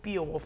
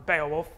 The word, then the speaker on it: Beowulf: HPC cluster called the Beowulf model, or Beowulf, depending on how you say it.